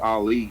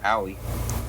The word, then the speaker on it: Ali: It's pronounced Ali, not Ali.